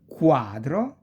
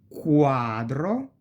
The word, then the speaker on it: quadro: E, qua, qui, que, quadro, quaderno, qui, quercia, eloquenza e quello, that. E si pronuncia più o meno, we pronounce it more or less like quiver, quiver.